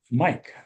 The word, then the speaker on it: Mic: Previously, he co-founded Mike, or MIC, I guess. Um, is that how you pronounce it, Mike? Yep. All right.